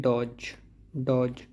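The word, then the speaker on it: dodge: डॉज नहीं, इसमें D silent है, यह है डॉज चमका देना।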